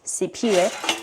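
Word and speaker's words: Siphiwe: And in my language is spelled P H I W E. Full name is CP.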